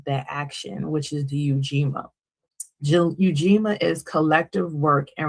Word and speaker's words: Ujima: And your response should be Eugima. Eugima or how some may pronounce it Ujima. I like to pronounce the U because I want me to be present in everything. So the Yujima um versus the UIA.